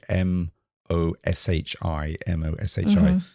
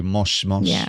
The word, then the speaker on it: もしもし: If you turn it into a romaji, it would be M-O-S-H-I, M-O-S-H-I. But you don't really say moshi moshi. No. You kind of say mosh mosh, right?